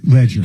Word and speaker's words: Leger: On his voicemails, it's pronounced he pronounced it Sam Leger. Ledger.